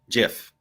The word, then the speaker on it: GIF: there you go so how do you pronounce this file name dot gif uh jif oh all right there you go isn't that what it is isn't that what like the creator calls it jeff yes that is